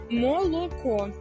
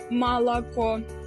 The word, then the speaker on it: молоко: гортанний звук усе нормально у нас немає акання молоко а не малако говорити а не гаварити